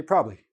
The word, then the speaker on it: probably: two of those consonants so for example the word probably probably probably I have three syllables in this word but when I'm speaking in natural speed I say probably are you coming to the party tomorrow yeah probably and now you're watching me